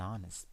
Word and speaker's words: honest: Okay, this time the H is silent again, because it's not honest, it's not honest, it's honest, right? So, an honest person.